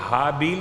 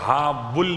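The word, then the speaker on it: ہابیل: قابیل ہے۔ حابیل کو حابیل بھی کہتے ہیں اور حابل بھی کہتے ہیں، اور حابل کے ساتھ ساتھ حابن، لام کے بجائے نون بھی پڑھتے ہیں۔ ایسے ہی قابیل کے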